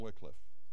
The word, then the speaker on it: Wycliffe: entire Bible into English John Wickliffe or wff depending on how you pronounce it from which wickliff Bible